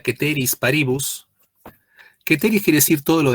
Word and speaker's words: ceteris paribus: Y acá viene otra cláusula, que esto en latín se pronuncia ceteris paribus.